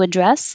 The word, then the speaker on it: address: can say what's your address address and it means the noun but if it's the verb the action you have no choice it has to be on the second syllable we need to address this problem Park another